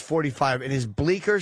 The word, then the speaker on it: Bleecker: B L E E C K E R .com. Well, maybe the fucking Bleecker Street. Bleecker. The C is silent.